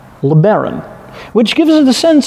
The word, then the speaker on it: LeBaron: But not only that, because this car, the top of the line model, is called LeBaron, which gives it a sense of old world continental Europe, right? Le Baron, it sounds French, much like Riviera or Monte